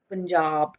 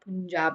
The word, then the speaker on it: Punjab: as it's spelt, but there is a silent R in Jab, so Punjab. It's not Punjab, it's Punjab.